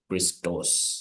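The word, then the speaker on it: Χριστός: So when I'm saying Christos, so I'll emphasize the Omicron. When I'm saying Theos, I'll emphasize the Omicron.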